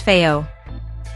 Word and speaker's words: FiiO: Also, it's pronounced Fiio.